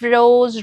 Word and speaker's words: rose: The pronunciation of rose remains a clear R sound followed by a soft O sound.